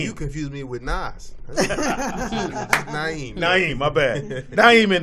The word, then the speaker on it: Naeem: Not at all. Ain't no S in there, bro. Not nowhere near. What? Who is Naseem. not seen? Naeem, nigga. Naeem. You confused me with Nas. Naeem.